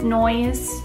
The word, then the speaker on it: Noyes: my maiden name is noise you can pronounce it noise or it's actually spelled no yes so when I was